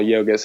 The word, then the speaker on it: Yogis: Um our name my name looks like Yogis which uh but it's pronounced Yogus and Yogus is a Lithuanian name but it's just sort